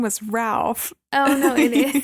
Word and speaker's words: Ralph: I always thought his name was Ralph. Oh, no, it is. Because it's spelled Ralph, but it said Rafe.